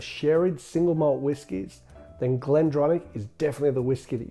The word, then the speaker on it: Glendronach: If you're a lover of sherried single malt whiskies, then Glendronach is definitely the whiskey that you need to get to know better.